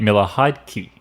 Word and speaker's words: Miller-Heidke: haven't watched the other videos um was Kate Miller hide key that's exactly how you pronounce it well done that's how we're going